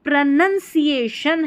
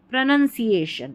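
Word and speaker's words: pronunciation: प्रोनाउन नहीं पढ़ना है।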